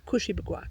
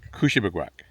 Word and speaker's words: Kouchibouguac: Yes, but put an accent on the first syllable. Kouchibouguac. Kouchibouguac.